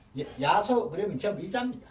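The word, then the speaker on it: 耶蘇: 그래 옛날 어른들 야소교 예예예. 예수교는 야소교. 한문 발음이 이제 우리말은 야소거든요. 아. 그런데 중국서 왜 그러면 이랬었느냐? 중국 발음은 예수입니다. 중국 발음으로. 예수인데 그럼 와 야소.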